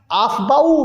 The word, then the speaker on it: Aufbau: आफ्बाउ rule क्या कहता है, आफ्बा या आफ्बाउ, कुछ जगहों पर आफ्बा प्रोनाउंसिएशन करते हैं, कुछ जगहों पर आफ्बाउ। ये आफ्बाउ, आफ्बाउ एक्चुअली जर्मन लैंग्वेज का एक वर्ड है, ये जो है ना जर्मन का है, जर्मन से लिया गया है, जर्मन लैंग्वेज